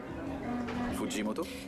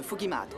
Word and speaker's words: Fujimoto: Fujimoto? Ça se prononce Fugimato. Fugimato.